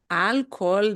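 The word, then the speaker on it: alcohol: has lots of problem because we got an H in the middle and the H is silent but then that means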